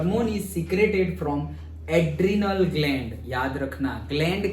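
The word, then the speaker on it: adrenal: एडर्नल gland. एडर्नल हाँ। नहीं, वो एडर्नल नहीं, वो यही है एड्रेनालिन, एड्रेनल वही है, वो ऐसा दूसरा नहीं।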